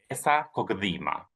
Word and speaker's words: Besa Kokëdhima: It's Besa Kokëdhima.